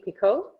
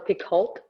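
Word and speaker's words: Picoult: uh that is like kristin hannah was jody pico or picult depending on how you choose to pronounce her name and i think that's a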